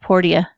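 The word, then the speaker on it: Portia: yeah my time at por dia por dia yeah really a lot of people have been pretty like everybody I've heard pronounced egos my time at Porsche and they're like no it's poor dia well damn which is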